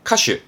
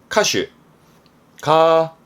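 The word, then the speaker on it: 歌手: 크게 벌리고 옳다고 말했던 거니까 아시죠 그렇습니다 가수의 카슈 카슈가 4였습니다 가사 노래 가사에 카시 카시 요것도 생소할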